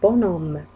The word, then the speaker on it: bonhomme: الأش في وسط الكلمة un bonhomme un bonhomme، لم ننطق الحرف.